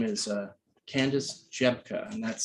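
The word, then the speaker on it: Rzepka: They work together, and her name is Candace Jebka, and that's spelled, it's a Polish name.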